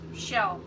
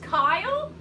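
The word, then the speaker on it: Kjell: but that's why I thought K-J-E-L-L would be pronounced shell. So it was a guess, so I don't know for sure. Oh, it's pronounced Kyle?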